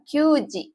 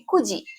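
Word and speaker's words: 九時: ya adanya siiji ya dan jam itu bahasa Jepangnya kan Q di sini q ya Tapi kalau dalam jam itu bukan qg ya tapi Kuji ya Kuji kayak gitu Jadi tolong hafalkan angka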